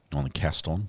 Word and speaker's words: Gaston: name guess Leon Gaston is it like Gaston from like uh um Beauty and the Beast is that how the name is pronounced Gaston cast on okay so I'm reviewing some